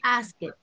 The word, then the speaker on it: asked: No, Maurino, no es asked.